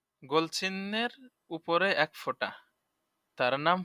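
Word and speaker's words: ف: ফা তার নাম ফা আর ফা উচ্চারণ কেমন হবে ফা হাসিমুখে দাঁতে ঠোঁটে আদায় হবে ফা সহজ আছে ফা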